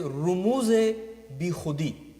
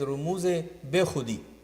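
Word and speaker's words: رموز بیخودی: Normally people who don't know Farsi, so in their pronunciation it is Rumuz-e Be Khudi, but actually it is Bi Khudi.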